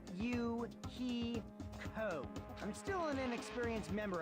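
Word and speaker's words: Hiyoko: My first name is pronounced U he co.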